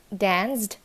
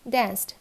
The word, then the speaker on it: danced: surged না searched, not danced, it's danced.